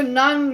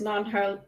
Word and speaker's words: Nan: And it's interesting to note it's spelled N-A-N, and the Nons of the Dark Eyes are N-A-H-N, but clearly they sound similar.